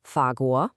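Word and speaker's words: 法国: The word for France in Mandarin is fagu and it's pronounced fago.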